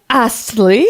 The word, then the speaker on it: Astley: Okay, pronounce the T, woman. Rick Astley.